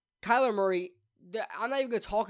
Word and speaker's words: Kyler Murray: they gave it to Kyle Murray Kyler Murray I even said his damn name wrong Kyler Murray why I